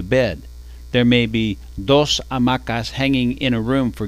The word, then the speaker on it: hamaca: What the world needs is more hamacas. I think that's the way to go too. Lección 110. La hamaca. Amacar. To swing. Amacar. Remember, we don't pronounce la H.